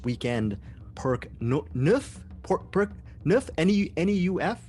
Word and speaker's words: Neuf: N-E-U-F? Is that how you say it? Neuf? I'm hoping. Yes, it's my name, so I can say it however I like, but yes, I'll be Perk Neuf.